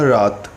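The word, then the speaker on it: wrath: नाराजगी या तेज गुस्सा लेकिन यहां पर डब्लू है वह साइलेंट है तो इसकी जो पेंशन है वह रात एग्जांपल है तुमने अभी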